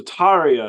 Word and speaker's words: Tarja: So Tarja is actually how you say her name.